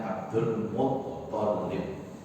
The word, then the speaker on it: Abdul Muttalib: Yang benar pengucapannya Abdul Muttalib. Tok pakai tasdid, lamnya bertasdid.